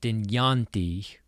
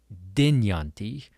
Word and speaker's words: Dynjandi: So, it's not Dynjandi, but Dynjandi. You want to make sure that the emphasis is on the right syllable.